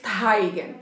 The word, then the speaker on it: Teigen: Y hablando de iluminadores, esta es la colaboración de Becca con Chrissy Teigen, bueno, yo lo pronuncio en alemán es Teigen.